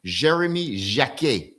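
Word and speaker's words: Jérémy Jacquet: You got France international Jeremy Jac. That's how you say it in French just in case you were wondering.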